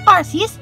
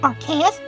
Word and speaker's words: Arceus: and one pocket monster, known as Arceus or Archaeus, depending on one's own pronunciation, is deemed as a